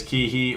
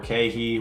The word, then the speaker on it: KeHE: Number three is Kihi or Kehi, whatever you like to pronounce it as, but Kehi Distributors.